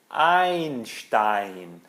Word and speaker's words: Einstein: Ou o famoso físico Einstein, Einstein.